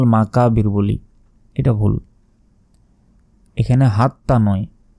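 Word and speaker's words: حتى: বলি এটা ভুল এখানে হাত্তা নয় এখানে ছোট হা নাই বড় হা বড় হার উচ্চারণ আলাদা যেটি বাংলায় লেখা সম্ভব নয় এটার উচ্চারণ হচ্ছে হা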